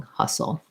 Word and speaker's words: hustle: t there and it has a schwa sound rather than an ah like in hostile it sounds like ha ha soul and then it just it's basically almost no vowel in that second unstressed syllable we go into that dark l a little bit of a schwa if anything hustle so he had to